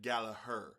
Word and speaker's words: Gallagher: This to me, uh, I I'm a big fan of Rory Galla, Gallagher, Gallagher. I listen to Irish people when they're pronouncing Irish names, and Irish people pronounce it Galaher.